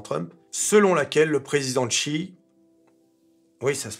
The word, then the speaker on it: Xi: publique du président Trump, selon laquelle le président Xi, oui, ça se prononce Xi, pas Xi, ou Xi, hein, ça